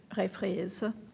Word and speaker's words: reprise: We have asked former Clerk Peterson to reprise her role, reprise is the French pronunciation, in case you're wondering, her role as clerk and do the roll call vote for us.